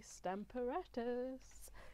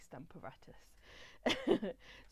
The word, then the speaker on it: Stamparatus: be showing you is the Stamper otters or Stamper artists it depends where you are in the country as to how you pronounce it but I say stamp aratus so what I'm gonna